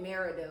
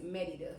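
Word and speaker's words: Mérida: here, I would consider Merida." And at that time, I had never heard of Merida. And a lot of people do call it Merida or Marida, but it's Merida. So, that's what I'm saying,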